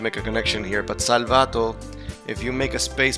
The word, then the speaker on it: Salvato: Yeah, it's Salvato. It's Salvato because there's no accent in the O or in the first A.